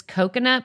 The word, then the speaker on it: Kokonut: Then this one always cracks me up because it's coconut, but it's spelled Kokonut.